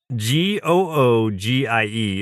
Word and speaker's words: Googie: the Jetsons is called googy. I I don't I think that's how it's pronounced. It's It's just go o g i e. It's Google with an i instead of an l.